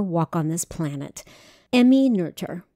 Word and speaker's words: Noether: on this planet emmy nurture her name looks like it should be pronounced nother n-o-e-t-h-e-r but it's actually pronounced nerder she was born amelie